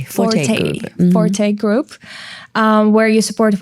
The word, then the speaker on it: Forte Group: And you're also a founder of Fort Group. Did I pronounce it correctly? Forte Group.